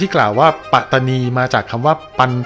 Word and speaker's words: ปัตตานี: กัน ตาม ตำนาน นี้ ก็ จะ ต้อง ออก เสียง ว่า ปัตตานี อย่าง เดียว เท่า นั้น จาก หลัก ฐาน ข้อ